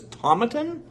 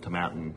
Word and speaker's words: Tomatin: And then I'd go to whiskey festivals and things like that, and I'd say Tomatin, and people would always correct me and say Tomatin.